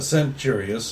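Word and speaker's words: Centurius: my name is Logan kanturius I'm with the group called The sidewinders but Logan kimchurius a centurious I understand that the uh Roman Catholic Latin takes a soft C yeah how can I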